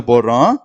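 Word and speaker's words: पढ़: அப்ப இந்த எழுத்தை உச்சரிக்கும் போது பட், பட் அப்படின்னு உச்சரிக்கணும்.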